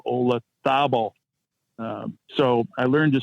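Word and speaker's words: Olazábal: Jose Maria Olazabal, not Olazabal, Olazabal.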